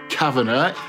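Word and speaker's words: Kavanagh: Now, this is formed by a guy called Ron, whose surname is properly pronounced Kavana, and he was a musician.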